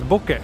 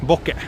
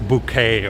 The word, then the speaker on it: bokeh: But in Japanese it's pronounced boke, not bouquet or anything like that, but just boke.